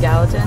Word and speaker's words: Gallatin: the Gallatin River so how you say it Gallatin yeah we headed along the Gallatin River all